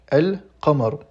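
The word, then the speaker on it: القمر: Donc on lit bien le L, l'article défini L qui signifie le la ou les en français. Et ici on prononce bien elle suivi du mot donc el kamar.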